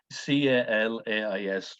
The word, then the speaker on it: Calais: And on the far side of the bridge is a town called Calais, c a l a i s, pronounce it Calais.